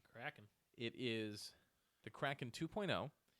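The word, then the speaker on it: Krak'n: see it's something called a crack in uh it's spelled k-r-a-k apostrophe i n Kraken it is the Kraken 2.0 and it is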